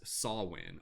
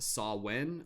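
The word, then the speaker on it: Samhain: is the modern word for what originated as sawwin or samwin it's kind of spelt like s-a-m-w something something something sorry i forget the spelling off name my head but it's pronounced saw when or very variations of that and then this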